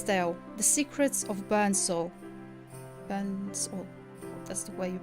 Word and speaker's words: Björn: Björn, that's the way you pronounce it.